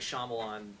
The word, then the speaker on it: Shyamalan: Night Shyamalan, I've said his name wrong, I know I have.